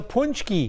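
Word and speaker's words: pączki: It's a punchki. It's a punchki. Catherine chimed in on my Facebook page. She apparently, I think she has ties to our area, but she's hanging out in Florida making some punchkis.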